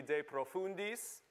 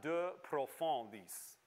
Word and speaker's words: de profundis: any french at all you look at the latin word and you kind of pronounce it like it's french so what we would say in latin would be de profundis uh and in french latin that would become uh de profandis essentially because it becomes you